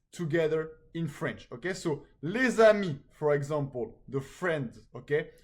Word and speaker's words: les amis: Okay, the S in les is usually silent, but in a liaison it's pronounced like a Z.